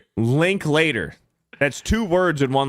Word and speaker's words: Linklater: How do you pronounce his name? It's Linklater. Linklater.